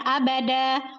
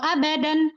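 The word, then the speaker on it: أبدا: ya atau ayat 3nya abada walada gitu. Kenapa bacanya enggak hasanan atau abadan waladan? Tidak. Kenapa? Inilah yang disebut juga dengan mad iwat.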